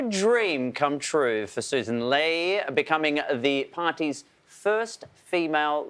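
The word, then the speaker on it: Ley: Olay. Olay. Olay. Feeling hot. Hut. It's pronounced Lee.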